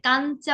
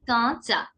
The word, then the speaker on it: কাঁচা: দেখুন, কাঁচা, হ্যাঁ কাঞ্চা বললে যেমন হয় না, কাঞ্চা, KANCHA, কাঞ্চা, অনেকটা তেমন। কান না বলে কাঁচা, নতে পুরোপুরি নটা আপনি উচ্চারণ করবেন। এই যে কাঁচা বা চন্দ্রবিন্দুটা দেখবেন হিন্দিতে কিংবা ইংরেজিতে চন্দ্রবিন্দুর জায়গায় বেশিরভাগ ক্ষেত্রে ন ব্যবহার করে, খানিকটা একটু নাকিস্বরে কম্পিত হয়ে উচ্চারিত হবে।